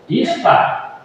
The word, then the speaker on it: Ishtar: E então ele tinha uma esposa, o deus Lua, deusa, Ishtar. I-S-H-T-A-R, Ishtar. E também se pronuncia A-S-T-A-R-T-E, Astarte.